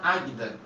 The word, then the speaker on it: Águeda: Hoje nós celebramos a história de Santa Santa Águida, né? Se escreve Águeda. Depois vocês pesquisem lá. Aguida, né?